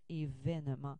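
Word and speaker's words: évènement: événement qu'on prononce toujours événement même si traditionnellement il y avait un accent aigu c'est l'accent grave qui est plus conforme à la prononciation exactement comme on a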